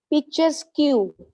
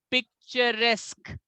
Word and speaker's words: picturesque: is, first of all, this time when you speak, the star will go to some other syllable, because this time we cannot say just picture. No. Now it will be that star. Star means the pitch will be different and high in RES. This pronunciation will be picturesque.